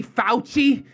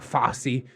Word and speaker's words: Fauci: But honestly, Daddy Fauci, I think that's how you say it, not Fossey.